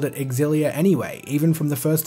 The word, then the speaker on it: Xillia: it just makes sense look at all the other Tales games with a title ending in IA they all have four syllables all of them simfonia Vesperia atonia zestiria pasaría legendia and finally Xillia if it were pronounced Xillia it would just be out of place but don't just take